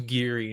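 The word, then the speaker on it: Gere: I don't I You said Tara, you said it wrong. His name is Giri, not Gear.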